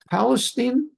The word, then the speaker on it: Palestine: Palestine, they pronounce it Palestine.